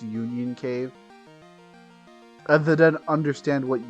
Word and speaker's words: Union Cave: this going into the onion cave It embarrasses me to remember how long it took me to figure out it's pronounced Union Cave I they didn't understand